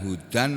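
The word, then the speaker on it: هُدًى: petunjuk wa artinya dan Hudan artinya petunjuk Huda membacanya Huda tulisannya Hudan Huda ini loh ini Huda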